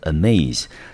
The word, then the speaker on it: amaze: 们先来看它的动词 amaze，它的音节第一个音